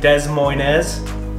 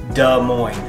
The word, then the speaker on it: Des Moines: actually say the name basically the s's are silent there are a lot of people who pronounce it des moines but it actually sounds more like duh moin it isn't even abnormal